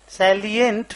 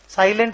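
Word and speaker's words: salient: रहे हैं सैलिएंट features सैलिएट features साइलेंट नहीं सैलिएट important some important information regarding it's subsidiaries bracket में लिखिए 15 नंबर्स 15 ठो इंफॉर्मेशन देना है।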